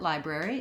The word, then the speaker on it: library: If we look at library, it has 3 syllables and it has first syllable stress. So the lie is long. It's marked in the dictionary with this little line before the stressed syllable. And the letter I says its name in this word, so it's the diphthong I. The first syllable just sounds exactly like the word lie.